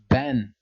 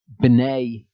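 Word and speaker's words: בני: And we've got the word, it says that the word is ben here, but it's actually b'nai there in the Hebrew, just like tabek is not tabek there, it's mituk.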